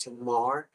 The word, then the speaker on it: Tamar: mispronounce her name and I realize now it is pronounced Tomar so please forgive me